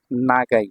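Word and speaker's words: 長い: কাঞ্জিটা কি পরিমাণ ব্যবহার এটা হচ্ছে নাগাই। এটা চাইনিজ উচ্চারণ হচ্ছে চৌ।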